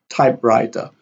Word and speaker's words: typewriter: We have blackboard, lighthouse, sunset, typewriter.